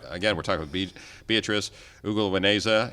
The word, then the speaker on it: Ugiliweneza: Again, we're talking with Beatrice Ugiliweneza, and Ugiliweneza, I said it right the second time, who is an assistant